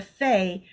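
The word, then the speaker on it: פ: And it is a pei, which in this case is pronounced as a fe, which is a mouth.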